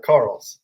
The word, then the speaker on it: Karels: carols how do we how do we pronounce the last name close it's uh Carl Carl okay okay um Carl from gigum